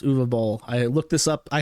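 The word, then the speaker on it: Uwe Boll: announces that he is going to be fighting U ball what does that mean u b German film director very word name spelled UAB Bal but it's actually pronounced uall I looked this up I had the the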